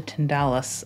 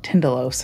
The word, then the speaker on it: Tindalos: And from Ex Mortis, who is a rare bookseller as well, I picked up Hounds of the Tyndalus, or Tyndalos, however you pronounce it. I've always said Tyndalus, Hounds of the Tyndalus.